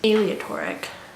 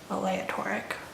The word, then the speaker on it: aleatory: learned the word and aleatory not alia toric aleatory not aleatory so what is going